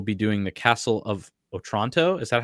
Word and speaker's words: Otranto: We will be doing the Castle of Otranto.